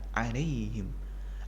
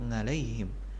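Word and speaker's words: عليهم: adalah huruf Ain anta alaihim ada yang juga harus diperhatikan di provinsinya jangan sampai menjadi ngalaihim Hay Day Hay Day I will now be alaihim ghoiril Khoir Khoir nah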